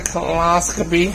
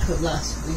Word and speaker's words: colonoscopy: The doctor was saying, "Have you had a colonoscopy?" I was like, "Uh-oh." Not coloscopy. A colonoscopy. Same thing, colonoscopy. It's not coloscopy. It's colon.